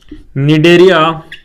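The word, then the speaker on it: Cnidaria: निडेरिया तथा Ctenophora क्या है? इनके लक्षण बताइए। था अंतर लक्षण अंतर लक्षण और अंतर आपको देखना है भाई किसके निडरिया निडरिया पहले सी आता है भाई सी साइलेंट है इसमें एंड इसमें भी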